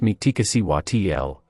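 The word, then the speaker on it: Mictecacihuatl: Mictecacichuatl, pronounced Mictecacichuatl, is a central figure in Aztec mythology, revered as the Queen of Mictlan, the underworld.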